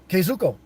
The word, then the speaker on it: Kazuko: a well comprehensive understanding kazuku maybe this will help pronunciation okay cow uh K Zoo KO kazuko okay I think I got it now okay Zuko KO I'm